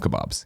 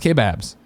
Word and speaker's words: K-Babs: And I think I might be I might give up the ghost and just call him Kebabs, even though it's not how he spells it. It should be pronounced K-Babs.